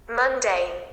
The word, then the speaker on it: mundane: you through camera so see now see the sound monday monday monday monday so while pronouncing this one only you can take two parts okay because it contains two syllables okay so after that